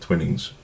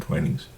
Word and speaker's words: Twinings: I might be mispronouncing it Twinnings, but I saw a commercial and they said Twinings.